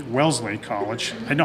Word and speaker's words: Wellesley: today but she will be attending well sit Wesley Wellesley College they know how to pronounce it Wellesley College in the fall where